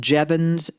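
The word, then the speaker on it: Jevons: And so then we have what's called Jevans paradox. Jee V o ns. And it's pronounced like Devon's paradox.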